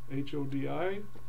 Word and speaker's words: Hodi: And then dropping down to the very last paragraph where the word says Hodi, H-O-D-I, Hodi. Hodi is a greeting that you would pronounce as you're coming toward a house or a building or a group of people.